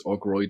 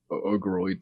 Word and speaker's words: Ogroid: So the Necker is from the class known as Ogroid or Ogoroid, depending on how anyone wants to pronounce it, and they're essentially scavengers.